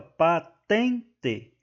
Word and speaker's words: patente: é oxítona né letra D patente a sílaba tônica pessoal é o tem aqui ó patente E aí mais uma vez é uma paroxítona pois a sílaba tônica é a penúltima e não a última